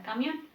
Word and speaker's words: camión: Si pongo el acento en mi, sonaría algo así. Camión, camión. No suena tampoco muy comprensible.